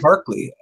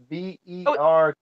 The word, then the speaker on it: Berkey: Berkeley. Berkeley. Berkly. EY, yeah. LEY, I think. I've looked at them several times. there's no L in there. It's Berkey.